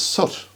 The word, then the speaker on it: soot: So S-O-O-T should be suit, and that's what we would call it, what falls down the chimney, suit. But in polite English it's soot, which is totally illogical really.